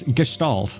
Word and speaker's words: Gestalt: of people and Oh, Gestalt. Gotcha. Okay. Yeah, it was I I always say either Gestalt or Gestalt. Good to know. It's Gestalt.